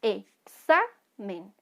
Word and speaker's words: examen: y se me ya el sonido es examen ven que suena más fuerte la penúltima sílaba esta palabra es grave